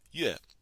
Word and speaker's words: 月: And the character for month is pronounced 月.